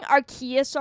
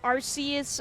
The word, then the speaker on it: Arceus: There was Arceus, and then it was Arceus, and then it was back to Arceus, and then it was Arceus. Like an RC car.